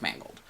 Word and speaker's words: Mangold: same thing director sir it's directed by James Mangold that's how we pronounce the name and those who will bring